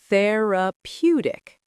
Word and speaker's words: therapeutic: Therapeutic emphasizes the third syllable. Therapeutic.